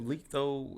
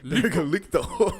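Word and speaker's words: Licht: I was gonna say Licto. Is that his name? How'd you say his name? I was saying Licto. That's how they say in the show. Licto. L-I-C-T-H. L-I-C-T. So Licto.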